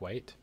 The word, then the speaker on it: Whyte: My favorite series is actually by Jack White. White as is spelled Whyte.